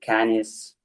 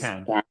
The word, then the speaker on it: Cannes: And we did present it on France on the Cannes festival. I don't Hmm. know, in French it is pronounced Cannes or it is Can.